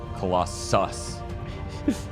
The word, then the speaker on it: Colossus: There are 2 S's at the end, so you have to pronounce it like that. Colossus.